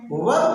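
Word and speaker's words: verb: अरे भैया वर्ब बोल रहा हूँ, वर्ब are silent British English में, ठीक ना, वर्ब नहीं वर्ब, जैसे फार्म नहीं फार्म ब्रिटिश इंग्लिश।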